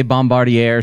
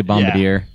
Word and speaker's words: Bombardier: yeah some people say Bombardier air some people say bum here but they try to